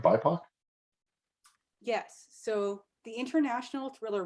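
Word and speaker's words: BIPOC: you tell us about that and the award pronouncing right bipac yes so the international thriller writers or itw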